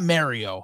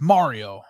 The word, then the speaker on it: Mario: to get to me it's not Mario it's Mario um actually you know